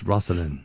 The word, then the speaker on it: Rasane: It's Rasane. Rasane. Yeah. That's right. Is that right? Did I say it right? I was gonna be nice. It's actually Rasane.